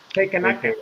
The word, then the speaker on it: Takenaka: It's like taken. Yeah, it's like Yeah, taken. Takenaka.